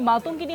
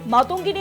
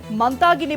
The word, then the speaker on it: মাতঙ্গিনী: কুচকাওয়াজে মনীষীর অপবাদ সেখানে মাতুঙ্গিনী হাজরার নাম উচ্চারণ ভুল করলেন সঞ্চালক মাতঙ্গিনীর জায়গায় মানতাগিনী বললেন সঞ্চালক বাংলার বনীশীর অপমানে সরদ